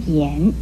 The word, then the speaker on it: 涎: 和涎字相似的还有右边这个涎字，涎的国语注音是一安涎，二声涎。